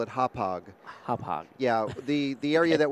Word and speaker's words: Hauppauge: We're not exactly sure what the correct pronunciation is, but we call it Hauppauge.